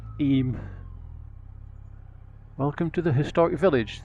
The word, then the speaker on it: Eyam: go yes I know it says I am but it's pronounced aim welcome to the historic